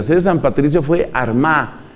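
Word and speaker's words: Armagh: de San Patricio fue armá que se escribe con gh al final San Patricio desde la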